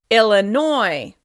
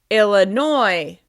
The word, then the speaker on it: Illinois: This state is stressed on the last syllable, and it's pronounced a little different than it looks. Illinois, Illinois, Illinois.